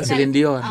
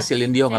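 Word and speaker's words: Céline Dion: Nah, selindion bukan Silind bacanya Silindong karena dia nyanyi harus buong.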